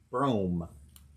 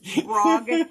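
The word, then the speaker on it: Brougham: So Corinne said it's Brome. Brome? Pretend like it's spelled Brome. Brome. It's a weird name street, but I anyway. grew up with the phonics sounded out. It's Brogham. Yeah. Brome.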